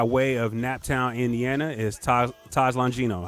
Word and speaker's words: Taj Longino: uh it's this yeah it's actually it's actually pronounced taj longino taj lonjin though okay i will make sure